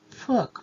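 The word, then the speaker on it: 福: and the word is Fuk, which means good fortune in Chinese, and in Mandarin it is pronounced Fu.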